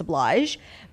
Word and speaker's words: oblige: questions, like, you just oblige. But oblige? It's a hard G. Yeah. Oh, okay. I made it like French.